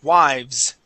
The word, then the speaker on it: wives: Okay, and here, remember, we don't want to pronounce that "-ez" sound. Okay, so instead of saying wives, we say wives.